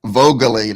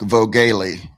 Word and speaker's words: Vogaly: So and we do Bubbas confirmed that it's straight from that it's Vogaly, not Vogale.